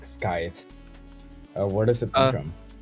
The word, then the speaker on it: Skyth: map someone named, and my friends, being like 12 at the time, they're just so dumb they pronounced it Skyth, and I was like,